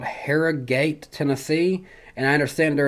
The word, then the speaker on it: Harrogate: i said i'm originally from a place called harrah gate tennessee and i understand there is a hara